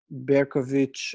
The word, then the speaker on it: Berkovich: So both of those alphabet systems obviously don't write CH for the sound CH, but Berkovich and Berkovich is how those names would be pronounced.